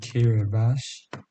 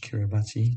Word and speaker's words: Kiribati: um and vanuatu and kiribati which is kiribati spells which is pronounced kiribati samoan goes south right now